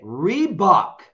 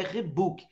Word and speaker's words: Reebok: é com dois o uma marca é reboque reboque eu não sei porque no Brasil é o único lugar do planeta que essa marca é Rebook não sei porque então a pronúncia está errada é lógico que eu